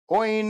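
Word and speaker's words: Óin: Oin and Glowing. Or I think the proper way to say Oin and Glowing is Owen and Glowin'. That's right. That's the proper way to say it. Owen and Glowin'.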